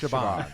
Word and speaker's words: Siobhan: It's pronounced Shaban.